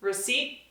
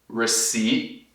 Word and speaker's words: receipt: Receipt, tipo a boca tá quase pronta de pronunciar, mas acaba não pronunciando.